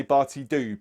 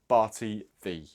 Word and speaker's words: Barti Ddu: Now, I say Barti Ddu because it is D-D-U. However, I am reliably informed that Ddu is actually pronounced 'thee'. So, it should be 'Barti Thee'.